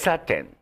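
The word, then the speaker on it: kissaten: Kisaten. Kisaten.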